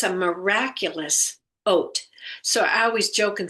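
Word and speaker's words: אות: It's a miraculous ot. So I always joke and say in the morning I get up and have my oatmeal because it's pronounced like oat.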